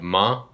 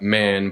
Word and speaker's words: Man: So the region of the country that we're planning on going to is the region of Ma. It's spelled like man, but you leave off the N, so it's Ma.